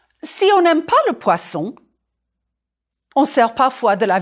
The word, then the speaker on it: poisson: Du poisson. Prononcez poisson, just like une boisson. The two S's make the S sound. And with poisson, it's more important than ever. You really don't want to say poison.